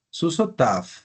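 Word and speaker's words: סוּסוֹתָיו: Susotav. Su sof. La yod no la leo.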